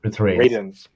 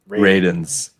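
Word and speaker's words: Radunz: It's pronounced Ray. It's Radins. Radins.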